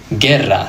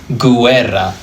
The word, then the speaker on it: guerra: For example, the word guerra. Notice that I'm not saying guerra. The U is actually silent here. All it's doing is protecting the hard G from the E because the G followed by an E becomes a soft G.